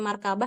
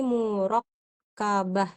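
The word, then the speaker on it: مركبة: dulu ini kecilin ini takut ada yang bacanya markabah ini murakabah ya harkat berarti ini murakabah kemudian eh kemungkinan yang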